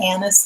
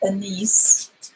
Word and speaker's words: anise: Anise, and it's pronounced Anise, not Anise.